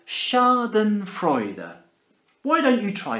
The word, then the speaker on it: schadenfreude: to borrow this word from the German it's pronounced schadenfreude er why don't you try saying it schadenfreude er my turn your turn schadenfreude er schadenfreude are